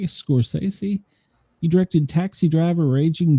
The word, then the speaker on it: Scorsese: Martin Scorsese, say it right, Scorsese.